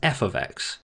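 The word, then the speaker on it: f(x): left hand side f brackets x we usually pronounce as f x which just means there's a function of x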